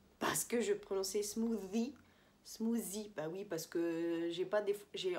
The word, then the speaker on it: smoothie: Donc, c'est un smoothie, bien sûr, avec le TH qu'on fait comme ça.